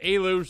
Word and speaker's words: Eluge: the shess see i' I've seen different ways to pronounce this I'm going to go with Alou like delou regardless a very exciting